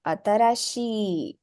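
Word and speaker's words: あたらしい: new once again the she at the end is elongated a little so you add an e after it atarashii hi atarashi the next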